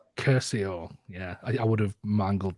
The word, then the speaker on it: Curcio: how to pronounce it what how do you pronounce your surname uh Curcio Curcio yeah I would have mangled that so I'm